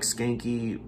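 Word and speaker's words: Schanke: don skanky uh and his last name is spelt s-c-h-a-n-k-e so it um it sounds like skanky uh but it's spelled differently but uh skanky is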